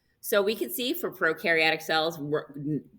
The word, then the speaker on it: prokaryotic: we can see for prokaryotic cells pro rhymes with no no nucleus no membrane-bound